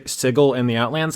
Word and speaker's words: Sigil: the setting book s sigle in the outlands I said sigle because uh previously it was specified that's it's not pronounced like the word sigil which is how it's spelled but I didn't see